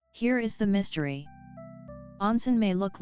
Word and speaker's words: onsen: In Japan, onsen, pronounced o-say, are hot springs and the bathing facilities and traditional inns around them.